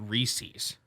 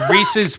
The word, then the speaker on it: Reese's: appalled everybody in the midwest calls it reese's oh you idiots it's reese's pieces oh it's it rhymes do you think it's